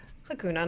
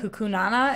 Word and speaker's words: Hakuna: I feel like you're adding an It's extra a syllable. Hakuna Matata. Hakuna Matata. There it is. Matata. Hakuna Matata. I think if they added- like banana, like hukunana, and it's just hakuna.